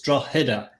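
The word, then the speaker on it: Drogheda: attempt at the pronunciation the g is is silent believe it or not so it's like a h it's draw header dragon okay well then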